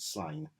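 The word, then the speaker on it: Sláine: Slain from 2000 AD, or Slain, however you pronounce that character. I pronounce it Slain.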